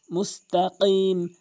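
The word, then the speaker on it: مستقيم: অধিকাংশ লোক মুস্তাকিম বলে, অর্থাৎ কফের জায়গায় কাফ এনে উচ্চারণ করে, যার ফলে অশুদ্ধ তেলাওয়াত হয়। মুস্তাকিম, কফটি জিহ্বার গোড়া উপরে তালুর সঙ্গে এভাবে মুস্তাকিম।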